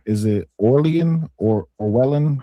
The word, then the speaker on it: Orwellian: Is it Orlian or Orwellan? How do you pronounce it? Orwellian.